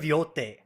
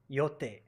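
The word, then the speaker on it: Yōtei: It's you know how to pronounce these words properly. Ghost of Yote. Yote.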